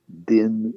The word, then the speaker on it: Dinh: the name of Ngo Dinh Diem. I'll spell it. N-G-O is his first, or rather his last name. His middle name is D-I-N-H, Din, and the first name is D-I-E-M, spelled like, or pronounced like Z-M.